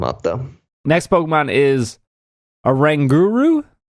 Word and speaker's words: Oranguru: Next Pokemon is Oranguru. Yeah, like orangutan and guru. I think Right. You're saying it correctly.